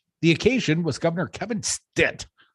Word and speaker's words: Stitt: occasion was governor Kevin Stitt rhymes with stit signing a bill outlawing